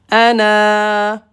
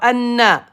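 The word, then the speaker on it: أنا: Noun, fatha, na, mais prolongé par alif. Ana. Ana. Pas anna. Non.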